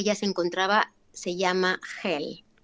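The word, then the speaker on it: Geel: se encontraba se llama Hel. Se pronuncia Hel, se escribe G-E-E-L.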